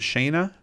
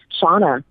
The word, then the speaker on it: Shauna: Is it Shayna? Shauna. It's spelt like Shayna, but it is Shauna.